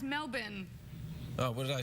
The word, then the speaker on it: Melbourne: Oh, that's You almost say it right. It's Melbourne. Oh, what did I say? You Melbourne.